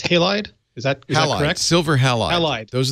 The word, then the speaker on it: Halide: alright so you Leo you said this is pronounced halide is that silver halide